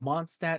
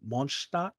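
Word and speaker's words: Mondstadt: you know yes um oh monsta is german but if you were to pronounce it in german it's actually monstar yeah something and then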